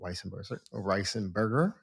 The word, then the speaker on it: Weisenberger: And again, the book is a Prediabetes, a Complete Guide by the one and only Jill Weisenberger. How did I pronounce that? How do you pronounce it? Weisenberger.